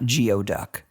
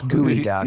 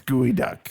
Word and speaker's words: geoduck: It's spelled ge o duck. It's not geod duck. It's gooey duck. It's gooey duck.